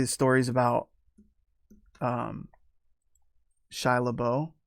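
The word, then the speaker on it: Shia LaBeouf: story is about um shia labeau i think that's how you pronounce his name his life and about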